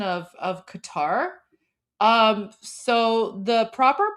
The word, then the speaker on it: Qatar: that sound in English that's why people say like Qatar it's it's definitely not cutter oh is it the